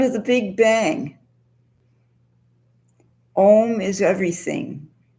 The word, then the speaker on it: Om: It's comprised of 3 vowels, A, U, and and then a dot at the end that's a silent half syllable.